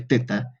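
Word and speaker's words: theta: función de y bueno para los que me dicen que no es teta es tita no ve vamos si quieren pueden buscar el alfabeto griego no se pronuncia Pita se pronuncia teta es que no nos falta uno que son mal pensado ha dicho teta De hecho no no se pronuncia tita en el alfabeto griego no hay tita ya he buscado a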